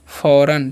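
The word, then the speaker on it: foreign: क्या पढ़ते हैं, इसे हम लोग पढ़ते हैं फ़ौरन, ठीक है। इसे फॉरगेन नहीं पढ़ना, इसे पढ़ते हैं नू, ओके।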